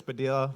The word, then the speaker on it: Padilla: Uh Padilla like tortilla. So if you guys have a hard time seeing my name and how to spell it, it's Padilla like tortilla.